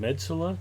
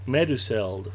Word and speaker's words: Meduseld: That looks like, is it Medsula? Did we ever figure out how to pronounce that?